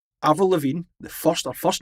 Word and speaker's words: Lavigne: Avril Lavigne, her first name has got 5 letters. And what's the silent letter in her surname? Oh, shit. G.